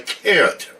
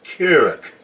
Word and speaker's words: Keurig: okay as we know that is a Keurig machine not a carrot machine it's a coffee maker not a Juice Maker okay so I know you guys are leaving comments and I did mispronounce it but it is pronounced Carrick uh okay so I